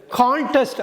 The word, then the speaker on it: contest: அதாவது CONTESTயை ரெண்டு விதமாக உச்சரிக்கலாம். கண்டெஸ்ட்னா ஒரு வினைச்சொல், செயல்வார்த்தை, போட்டியிடுறது. கான்டெஸ்ட் அப்படிங்கிறப்ப அது பெயர் சொல்ல மாறுது, போட்டின்னு வந்துடுது. இப்போ ஒன்று சொல்லலாம், ஹீ கண்டெஸ்டட் இன் த கான்டெஸ்ட், அவன்